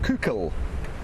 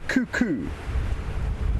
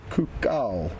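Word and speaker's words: coucal: It's called a Burchil's c owl cuckul not a cuckoo. I know pronunciation can sometimes be a little bit misleading. So, it's not the regular cuckoo, but a cuka, which I'll show you the spelling of shortly.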